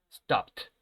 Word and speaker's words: stopped: Y la pronunciación, esta ed se va a pronunciar como si fuera una T, recuerden. ¿Por qué? Porque el último sonido es de la consonante P y este sonido no suena.